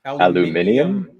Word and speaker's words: aluminium: good one here cedar grove mentions the word aluminum but this is one where the extra l's actually appear written i believe aluminium that's with the i versus the with just